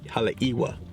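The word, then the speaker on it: Haleʻiwa: to get wet I got the right pronunciation of the town it's halewa Hala iwa holy this thing's big it was only two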